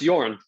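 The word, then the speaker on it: Jorn: you say your name is it organ yeah it's yarn y-o-r-n would be the phonetic pronunciation yeah all right sorry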